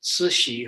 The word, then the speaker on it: Cixi: It's a hard name to pronounce, but that's how Cixi is pronounced. Cixi, her Manchu name was Yehonala.